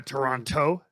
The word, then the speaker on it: Toronto: said toronto toronto oh you don't say the t oh a toronto stop it stop it